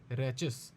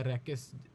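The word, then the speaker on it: rachis: एक्सिस बन जाती है आपकी रैचिस या रैकिस, however you want to pronounce it.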